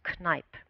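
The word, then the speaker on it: Kneipp: of the 20th century his name was canipe mr. canipe and this is the german pronunciation you probably would say differently so mr.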